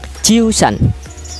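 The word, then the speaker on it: 十三: Ciusan.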